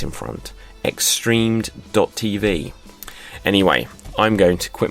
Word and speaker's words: XStreamed.tv: So if you just heard that and it was a big jumble, the way to think of it is the letter X and then the word streamed, like I streamed a